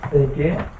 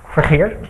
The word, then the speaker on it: Vergeer: I'm going to pronounce this wrong. Vergeer. Vergeer.